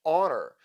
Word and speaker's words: honor: For instance, in some words like honor, the letter H is not pronounced as it would be in French.